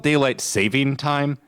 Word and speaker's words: daylight saving time: First off, it's called daylight saving time. No s. It's one saving. Just just one.